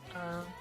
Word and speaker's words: Neith: How do you spell it? Neith.